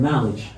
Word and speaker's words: knowledge: K in the word knowledge. The letter K is silent.